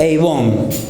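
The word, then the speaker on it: עוון: La palabra maldad en hebreo significa eibón. Así se pronuncia.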